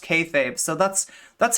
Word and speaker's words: kayfabe: Um when when Dylan Burns wanted to do like, you know, was trying to do like wrestling stuff with me, I said kayab, right?